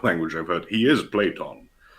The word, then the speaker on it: Platon: But then there have been uh, names in English butchered by removing the n. One of those is Plato. His name is Platon.